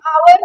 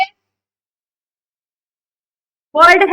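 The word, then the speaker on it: hour: अब एन आवर क्या sound आ रही है? वर्ड है हमारे पास आवर जिसमें हम हावर नहीं बोलते हैं हम।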